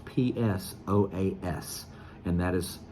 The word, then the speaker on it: psoas: muscle now it's spelled it starts with a P just to be confusing to you but it's silent so you don't pronounce P it's p-s-o-a-s and that is pronounced so as so as the psoas muscle so